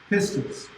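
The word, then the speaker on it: πίστις: How you pronounce Pistis. Pistis.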